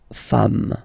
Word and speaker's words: femmes: singular form, and then you just add this S at the end, and as we said, you don't pronounce it, so you get des femmes, okay?